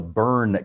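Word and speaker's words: Berne: the burn convention and it's spelled almost like bernie just without the o for those who live here in san antonio texas there's a suburb called bernie b-o-e-r-n-e this is the burn convention b-e-r-n-e the burn convention for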